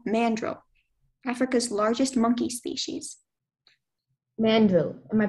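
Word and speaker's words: mandrill: of the male mandrel Africa's largest monkey species mandrel am I pronouncing the word correctly sounds about right mandrel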